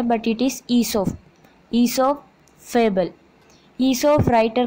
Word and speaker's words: Aesop: ईसोप pronounced ईसोप वॉज a famous story teller.